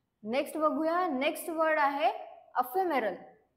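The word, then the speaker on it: ephemeral: बघूया next word आहे अफरल प एच एम आर ए याच प्रोनन्सशन कस आहे तर अफेरल याच प्रोनन्सशन आहे मिनिंग काय आहे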